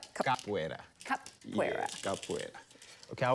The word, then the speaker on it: Capoeira: Yes, when I start Capoeira, you were giving a nickname.